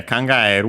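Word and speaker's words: 考える: Uh Oh yeah, kangaeru wanted to mention the accent accented on the e technically. I think we might have seen it there's the variant also with the accent on the ah. It depends if you consider ah eh a diphthong or not.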